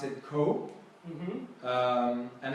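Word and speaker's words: 口: Yes, it means mouth, and it's pronounced ko because the dragon is standing in the cold.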